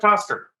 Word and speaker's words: Coster: Representative Coster, am I pronouncing that right? I just want to make sure it's not a hard O. It is not a hard O. Okay. You've got it right.